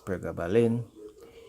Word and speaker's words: pregabalin: medicines to treat fibromyalgia these three medicines are pregabalin ulysses protein so those are p r e g a b a l i n that is pregabalin d u l o x e t i